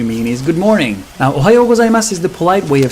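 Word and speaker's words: おはようございます: The kana is su, so if you really wanted to be proper, you would say Ohayo gozaimasu. That would actually sound even more polite.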